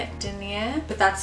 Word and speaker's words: denier: That's how you say it, Denier.